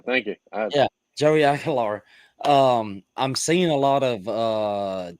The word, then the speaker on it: Aguilar: Aguilar. Aguilar. Thank you. Yeah, Joey Aguilar.